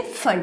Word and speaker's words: Pfund: P is silent here, you can say Pfund series, right?